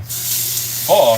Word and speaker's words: pho: Yeah, it's pho. Like F-U, pho.